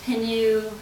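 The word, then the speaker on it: Pineau: they call shamblanc canoe and that's spelled p-i-n-e-a-u so you might see it as penu de la loire or they might say um you know you know just a reference to penu the grape and might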